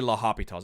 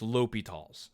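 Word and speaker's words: L'Hôpital: hopital's rule or i'm sorry i always say la hopitals i've been saying that for years and i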